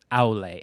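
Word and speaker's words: Aulë: Aule? Aule. A-U-L-E. E with a little umlaut Aule. thing. Aule. I think that's how you say it.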